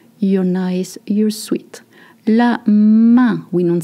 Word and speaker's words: main: La main, we don't say la main. La main is the hand. La main with the un sound.